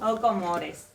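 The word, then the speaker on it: aux Comores: A ver, se escribe aux, pero es O. O, O Comores.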